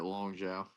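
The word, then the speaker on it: Long Xiao: We got Cody Garbrandt taking on Long Jiao. Is that how you say it? Mhm. How you say those X ones? How you say that? You said it right, Long Zhao.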